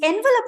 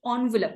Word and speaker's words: envelope: So the envelope ane word ni initially the actual pronunciation of it is envelope, but nobody really calls it envelope these days.